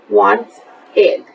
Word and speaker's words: wanted: So we make it want, ed, wanted. But when we pronounce it, we say want-id. We write it with the ed, but we pronounce it id, wanted.